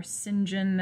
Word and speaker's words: St John: rivers jane and rochester saint john or cinjin as it's sometimes pronounced and mr brocklehurst who